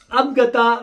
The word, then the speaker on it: Abagtha: ابگتا کے spelling English میں ہے ABAGTHA.